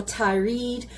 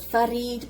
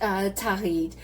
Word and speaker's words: Thareed: And it can be pronounced Tharid or Thareed. Some people make a mistake and call it Tharid, but that's not correct. And what is Tharid?